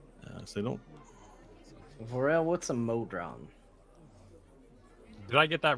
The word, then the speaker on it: modron: Vorel, what's a modron? Did I get that right, DM? Modron is the pronunciation, yes?